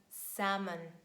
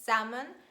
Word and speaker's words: salmon: this is the word salmon yes it is salmon and l here is silent next one is letter